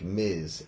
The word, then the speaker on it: Ms.: What we should pronounce it like Ms, M-I-Z, almost like it was spelled like that.